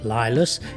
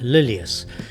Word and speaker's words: Lylius: name the place incorrectly it's not lus it is in fact lilius and that is named after the two owners Lydia and Cornelius so please excuse the